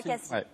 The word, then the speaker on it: Cassis: Moi, je dis Cassis. Eh bien non, il y a polémique. Alors, il y a polémique. Cassis, c'est le fruit. En français, le S à la fin, on le prononce.